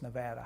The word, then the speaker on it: Nevada: 30 years now but I know how to pronounce the name of the state it's Nevada how come you haven't learned how to pronounce